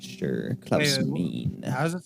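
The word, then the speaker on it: Meine: his last name Mike is it mean or main it's m i n e m e i n a NE I think it's mean give me a second but I'm not sure mean how's it spelled m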